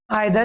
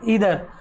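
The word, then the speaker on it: either: हम पढ़ते वैसे नादर आदर इनका राइट प्रोनाउंस होता है नीदर और इदर लेकिन शुरुआत से नादर आदर ये पढ़ रहे हैं सेसे नीदर इधर होता है ठीक है देखि ये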